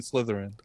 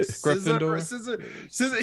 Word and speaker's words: Slytherin: a Harry Potter person I was like sciss scissor she was like Slytherin I was like yeah